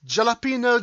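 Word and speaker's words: jalapeño: No, it's jalapeno. What? Sorry, you are Jalapeno. incorrect. How? It's jalapeno. I should know. My mother used to work in a Mexican restaurant.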